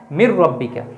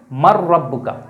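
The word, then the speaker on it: مَن رَّبُّكَ: মার রব্বুকা। তো এ জায়গায় কিন্তু শব্দ ছিল মান রব্বুকা। কিন্তু আমরা ঈদগাম করে উচ্চারণ করার জন্য বলি কি? মার রব্বুকা।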